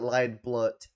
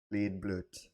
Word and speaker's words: Liedblut: name wrong it's not Li BL it's not like think think of um Elfin lead you know it's a it's German saying lead then BL lead BL um that's my name